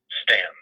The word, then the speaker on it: Staunton: But in Virginia, Staunon is pronounced Stan.